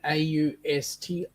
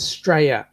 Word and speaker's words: Australia: You might look at it as being Australia, but when we actually pronounce it as Straya, Strya, Straya. Australia? No. There's Straya. no R in front. Just It's Straya.